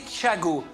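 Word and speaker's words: Tchiago: Thiago, à prononcer Thiago. T-C-H-I-A-G-O et pas Thiago. Thiago, c'est mieux comme ça, à la marseillaise.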